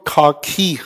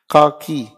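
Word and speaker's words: khaki: यूज होता है, काकी, इट इज नॉट खाकी। खैर मैं बता क्यों रहा हूं ये आप अपना आराम से देख भी सकते हैं, इसकी प्रोनाउंसिएशन बड़ी टिपिकल है। इट इज काकी नॉट खाकी।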